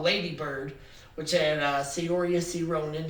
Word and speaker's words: Saoirse: One is called Lady Bird, which had Saoirse Ronan. I know that's not how she pronounces her name, but that's how it looks like it's spelled, so that's how I'm going to say it.